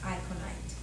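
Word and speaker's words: aconite: t-u-m akon tune and it's pronounced iconite okay acronite is um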